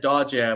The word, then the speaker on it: Doje: Oh, I said Dodge, which is Yeah. like the Cantonese pronunciation, but I understand Which, why that's hard for people to say. yeah, but thank you for saying it the right way.